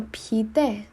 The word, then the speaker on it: πιείτε: Θέλετε κάτι να πιείτε? Θέλετε κάτι να πιείτε? This might be a bit tricky to pronounce. Πιείτε.